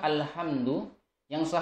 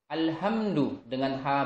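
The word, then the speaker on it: الحمد: jadi kamu ucapkan kalimat alhamdu lillah harusnya dengan hak kecil alhamdu adalah segala puji bagi Allah tetapi ada beberapa orang yang membacanya dengan alhamdu lillah besar ya dengan hak besar alhamdu lillah Angelia karena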